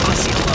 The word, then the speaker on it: Osceola: Chat's gently reminding us that Osceola, Arkansas is pronounced Osceola.